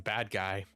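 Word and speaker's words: Badguy: It's like it's pronounced bad G so good.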